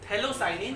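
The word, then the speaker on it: phthalocyanine: Organic में बात करें तो एक फेमस है एंथ्रासीन और दूसरा है डोप्ड थैलोसाइनिन। डोप्ड थैलोसाइनिन, पी साइलेंट है उसका।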